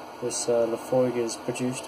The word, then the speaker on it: Laphroaig: established in 1815 now so here this is pronounce Laphroaig by the way in case you want to